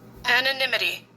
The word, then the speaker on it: anonymity: That's why I have a problem with pronouncing it, because I want to say anonymous. But again, it is pronounced anonymity.